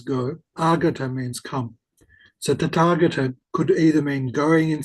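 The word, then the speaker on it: Tathāgata: Notice that it's not tatagata like some would say, but that there's a long a on the second second vowel. So it's tataga. The second a is lengthened.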